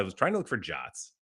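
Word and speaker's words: JWT: i wanted to learn about jots so jason webb tokens do you call them jets i think that's the official pronunciation i i saw this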